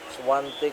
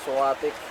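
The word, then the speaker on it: Świątek: Swantic po yan. Silent in kadalasan pino-pronounce po natin na suatic.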